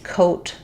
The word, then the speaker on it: coat: So these are exactly the same, except that the initial sound of quote has the w sound, whereas coat just has the k sound.